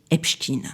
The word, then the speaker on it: Epstein: américain médiia tribunaux enregistrement archives son nom est prononcé Epstekin Ce n'est pas une opinion, ce n'est pas